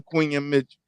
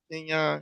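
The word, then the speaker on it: Quinyon Mitchell: But we going Quinion Mitchell. Did I say his name right? Kenyon. Kenyon. You the heck yeah. You said Queen Mitchell.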